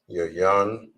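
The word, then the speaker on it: יין: Wine in Hebrew, it is pronounced as yayan.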